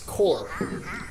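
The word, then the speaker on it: corps: Or C-O-R-P-S, it's core. You don't pronounce the P or the S.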